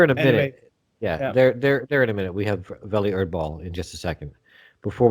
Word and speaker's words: Welle Erdball: So in a second, we have Welle, is it pronounced? Welle Erdball. Welle Erdball.